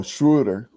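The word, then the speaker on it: Schröder: know this this kid schroeder oh shooter it's how it's pronounced uh didn't wanna uh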